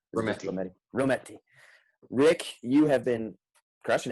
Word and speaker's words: Rommety: Rommety.